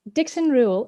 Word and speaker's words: Dixon Reuel: I'm so excited with Dixon Reuel. Okay, wait. So first of all, I wanted to confirm that pronunciation first.